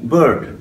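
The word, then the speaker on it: bird: এখানে উচ্চারণগত বিষয় আছে, হয়তো আমি আগে বলেছিলাম এটা বার্ড না, পাখি, আমরা যেটা বলি যে বার্ড, বার্ড না উচ্চারণটা হবে কি, ওই অনেকটা লার্নের মতো যে বার্ড, বিআইআরডি, বার্ড, ওকে, আকারটা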